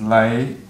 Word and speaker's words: Le: Um, the last name is Le pronounced L E Y.